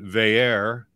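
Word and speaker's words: Veilleux: Have Christian Veillere. We finally got his pronunciation.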